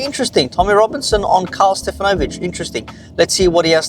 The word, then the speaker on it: Stefanovic: Well, well, well, Karl Stefanovic or Stefanovic as his his actual pronunciation, clearly a great Australian name.